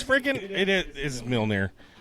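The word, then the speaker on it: Mjölnir: It looks like Mjolnir. Mjolnir because it's freaking It is Mjolnir.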